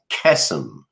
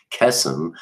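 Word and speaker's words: קסם: We can see that in Strong's number H7081, and it's kesem. And it comes from the root H7080, which is kasam. And they're both spelled exactly the same. They're just pronounced a little bit differently.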